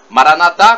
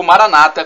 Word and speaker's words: Maranatha: de Jesus o aramaica Maranatha como dizemos nós católicos ou Maranata como dizem nossos irmãos separados os evangélicos ou protestantes não importa a pronúncia é diferente mas o significado é